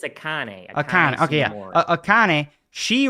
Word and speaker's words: Akane: No, it's not Akame. It's Akane.